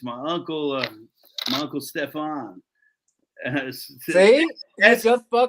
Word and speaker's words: Stefan: the only one um they can't understand that it's stefan with an f they're like oh steven and i'm like okay cool what sound does the letter f make and they're like and i'm like okay now say my name and they're like steven and i'm like no no that's not it um but thanks for